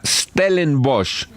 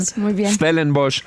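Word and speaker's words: Stellenbosch: Susana Mohamat es politóloga de la Universidad de los Andes, magístra en desarrollo sostenible de la Universidad Stellen Bosch. Sí, pronuncié bien Stelen Bosch.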